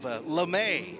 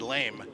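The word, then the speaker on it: lamé: out for me because i would have said lame because that's the way it's spelled and they've got it l a dash m-a-y rick lemay material and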